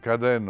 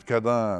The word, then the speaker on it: Caden: Et celui qui arrive en Bretagne et qui prononce Caden au lieu de Cadin ou le faou au lieu de le fou perd toute chance de